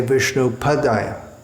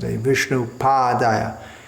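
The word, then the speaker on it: viṣṇu-pādāya: Vishnu pod aya Sheela Prophet himself sometimes corrected devotees who would say vishnu padilla which remains a common mispronunciation up to the present Vishnu pod aiya Krishna preached I oh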